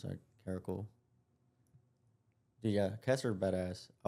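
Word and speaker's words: caracal: I don't know how to pronounce that. Caracle.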